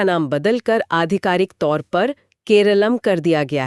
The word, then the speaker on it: केरलम: हाँ, मलयालम में राज्य को हमेशा से ही केरलम कहा जाता रहा है।